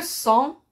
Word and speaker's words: sang: sûr voir les exemples le sang se termine par g le mot de la